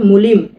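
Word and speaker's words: молим: এটা এম এমও এল আই এম কি হয় মলিম এটা হল বিটা হবে ভি এটা এ সিটা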